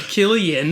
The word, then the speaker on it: Cillian: name well he wasn't he's not the first one to be named killian with the hard c sound yeah but maybe he